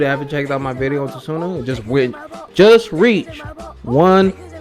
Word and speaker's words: Tsuna: explain why so sooner i keep saying too soon because he got the t in it but sooner the t is silent i apologize um basically